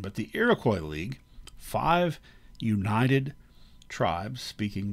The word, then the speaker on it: Iroquois: the arrival of europeans the iroquois league technically uh the french pronunciation would be iroquois um their name for themselves is sony i go with the americanized uh pronunciation but the iroquois league five united tribes